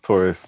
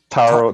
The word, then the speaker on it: Taurus: Taurus, not Taro. Taro's the bubble tea thing.